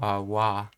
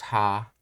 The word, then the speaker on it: は: wa, as you know, gets spelled with the character ha when it's a particle, and it's pronounced as a particle as wa, and as a word it gets pronounced as ha.